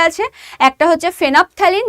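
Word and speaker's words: phenolphthalein: একটা হচ্ছে ফেনোপথ্যালিন। দেখো এখানে এল এর কিন্তু উচ্চারণ হবে না। এখানে এলটাকে বাদ দিয়ে উচ্চারণ করো। ফেনোপথ্যালিন আর একটা হচ্ছে মিথাইল অরেঞ্জ।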